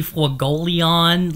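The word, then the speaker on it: Fuegoleon: Sorry to burst your bubble, buddy, but it's actually Fulgelion. Like, if you watch the dub, that's how they say it.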